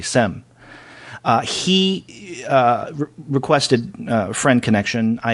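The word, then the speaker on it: Cem: Well, someone by the name of Kem Silamet, and his name is spelled C-E-M, his first name, and I'm hoping I pronounced that correctly, Sem.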